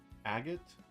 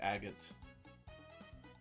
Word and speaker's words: agate: Agate. Hi DeAndre. Yeah, I think most people say Agot. They emphasize the first syllable.